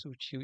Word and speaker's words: sutil: A número um, ele fala aí a letra A ananás, sutil e siri. Sutil é uma oxítona. Aqui, ó, a palavra ou a sílaba forte tônica é o til sutil.